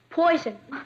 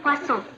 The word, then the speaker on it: poisson: Poison. That's pronounced poisson.